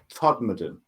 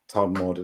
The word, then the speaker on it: Todmorden: Todmorden. Yeah, spell that.